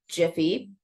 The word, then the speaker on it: Giphy: So I added information about Jiffy. I don't know how people pronounce it. I say Giphy.